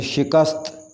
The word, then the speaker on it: شکست: شکست، اس کا صحیح تلفظ ہے شکست، شکست، شین کے نیچے زیر آئے گی، شکست۔ ادارہ، صحیح تلفظ